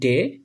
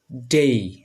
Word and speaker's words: day: তো শব্দের শেষে যদি এ ওয়াই থাকে তাহলে উচ্চারণটা হবে এই। আচ্ছা, আমরা দেখি উদাহরণগুলো দেখি। 1 নম্বরটা হচ্ছে, এটাকে আমরা আগে বলতাম ডে, এখন আমরা এটা সঠিকভাবে উচ্চারণ করব ডেই, ডেই, ডেই।